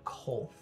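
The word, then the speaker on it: Qwolth: The journey to the quarry, which Rena informs you is a site called Kolth. Kolth. Kolth, with a Q.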